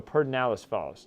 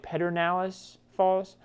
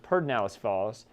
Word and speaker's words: Pedernales Falls: the exception of also perdinalis falls i know it looks like pedernales falls but it's pronounced perdinalis falls just east of johnson